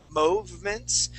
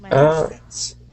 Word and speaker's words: movements: O sound, okay, but we would pronounce that moo. That would be more of an oo sound, so we would say movements.